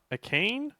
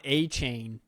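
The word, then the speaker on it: Achane: three six and seven cam Smith Devon Akeem akane probably running back Texas A M yeah oh Devon a chain even cooler when you pronounce it correctly it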